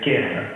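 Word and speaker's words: Cairn: Donc, Alors, Kern, ça s'écrit C-A-I-R-N.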